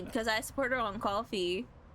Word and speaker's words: Ko-fi: I support her on Ko-fi. Or Ko-fi, whatever the fuck it's pronounced. Listen, I don't care if it's called Ko-fi. I pronounce it as coffee.